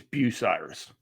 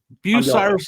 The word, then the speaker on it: Bucyrus: I think it's Bucyrus. Bucyrus is what the most common one, but I hear Bucyrus every once in a while.